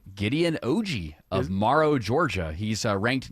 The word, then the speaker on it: Oji: Gideon Oji of Morrow, Georgia. He's ranked number 7 by the MLE. Wow. Go Gideon. Oji? Yeah, Oji. It's spelled OJI.